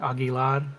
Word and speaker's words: Aguilar: Zach Aguilar. So weird I say it like that, even though he's Spanish. He's Yeah. supposed to like roll the R, Aguilar. You gotta roll it, bro. Yeah, dude, Zach Aguilar.